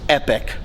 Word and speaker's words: epic: And by the way, correction, it is epic. Not epoch. Not epoch. Epic.